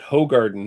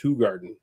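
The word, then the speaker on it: Hoegaarden: red B says isn't isn't it hog Garden no that is a common misnomer uh it is actually pronounced hug Garden I mean you can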